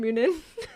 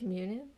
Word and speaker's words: Munin: But it's actually pronounced, let me think, Munin? Hugin and Munin.